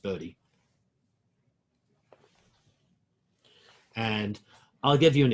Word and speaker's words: Bode: do it quickly by hand is called a body plot even though it's spelt bowed it's pronounced bodhi and i'll give you an example of a